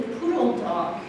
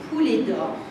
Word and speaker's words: Poulet d'Or: Et il paraît, la tradition veut qu'au départ, c'était le poulet d'or. Mauvaise prononciation. Et voilà, et les Américains, les autres nationalités n'arrivaient pas à dire poulet d'or, donc c'est devenu Poulon Dog.